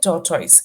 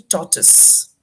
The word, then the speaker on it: tortoise: Okay, you said tortoise. It's actually tortoise.